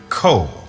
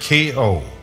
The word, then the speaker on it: Ko: in tow, he would say to her, Ko, as if it were spelled K-O, a single syllable.